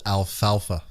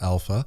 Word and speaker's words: alfalfa: It's called alfalfa, not alpha.